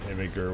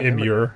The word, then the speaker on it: Imgur: You always pronounce it Imager with the soft G. So Imager. Yeah, Imgur. Imgur. Umgur. That's what he's saying. It's Imgur. I mean, there's a G in there. You gotta get the G in there somewhere. I mean, it's an imager. Imager. Like an image. It's not ER though. It's UR.